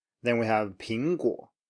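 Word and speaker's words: 苹果: Then we have 苹果, 苹果.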